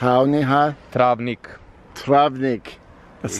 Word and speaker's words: Travnik: this town that I can't pronounce and it's pronounced I'll Neha travnik travnik that's not easily anyway this was built